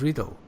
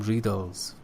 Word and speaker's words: riddle: You said something else, but the correct pronunciation is riddle. You said by solving some riddles, for example.